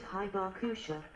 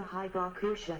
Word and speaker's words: Hibakusha: The survivors of the bombings are called Hibakusha, pronounced Saibake or Ibake, a Japanese word that literally translates to explosion-affected people.